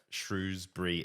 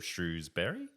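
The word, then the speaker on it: Shrewsbury: shrewbury oh okay yeah shrewbury instead of Shrewsberry okay um happy bruh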